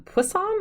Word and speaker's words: Poisson: do not speak French I had to look that up on how to pronounce that um pussan I think is how you say it my other students